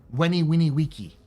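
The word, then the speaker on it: veni vidi vici: The other thing is V's are W's in Latin. So it's not Veni Vini Vici or Vici. Vici. It's Weni Winnie Wiki.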